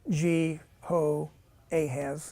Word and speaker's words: Jehoahaz: um by the way it's like jhoa and then it's ahaz you know G ho ahaz if you want to kind kind of pronounce it remember there's going to